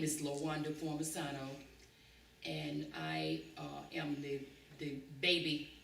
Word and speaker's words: Formisano: okay, now you need to spell that name. My name is Formisano, Formisano.